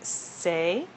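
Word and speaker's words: c'est: usually, although you can use the word say, c apostrophe e s t to mean it is say.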